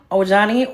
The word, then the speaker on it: Ojani: Her ex-husband, Ojani, or Ani, depending on how you pronunciate, popped in and let her know, baby, this ain't that. Owani is her first husband.